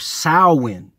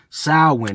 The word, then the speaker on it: Samhain: But then you throw in the pagans who were into something called, it's spelled Samhain, but it's pronounced, I believe, Samhain. Samhain.